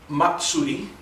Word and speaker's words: Matsuri: So I'm going to play a quick piece for you called Matsuri. M-A-T-S-U-R-I is the Romanji, is the way we would spell it in English, and Matsuri means festival.